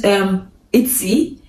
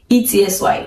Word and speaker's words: Etsy: I try to use Etsy, E-T-S-Y, yeah, Etsy. Is that the right pronunciation?